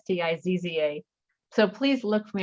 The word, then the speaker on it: Stizza: Stizza, which is spelled like pizza, but pronounced differently. So it's Stizza.